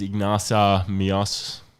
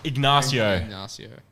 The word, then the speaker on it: Ignacio: IGN in Cloud go oh there's no G Ignacio Ignacio God damn that's it